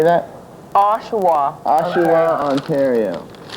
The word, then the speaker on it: Oshawa: Oshawa.